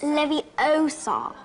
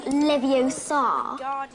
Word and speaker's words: Leviosa: It's Levie Osar, not Leviosa or the Queen of England when she speaks.